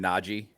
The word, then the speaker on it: Najee: is but in 2022 can we resolve to pronounce his name nagi sure cool we can because that's actually how he pronounces it yeah yeah not yet i just you know i'm just putting that too yeah yeah well he's he's commented on that too and he's just notchy but i i don't